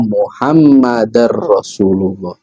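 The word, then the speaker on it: محمدا رسول الله: Kemudian juga misalnya wa anna muhammadan rasulullah maka dibacanya harus wa anna muhammadar rasulullah atau wa ashadu anna muhammadar rasulullah.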